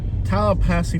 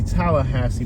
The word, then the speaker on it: Tallahassee: Tallahassee, Florida.